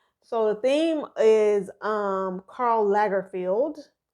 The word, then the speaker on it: Lagerfeld: So the theme is Karl Lagerfeld. Did I say it wrong? I thought it was Lay, not La. I thought it was Lay. I thought it was Lagerfeld.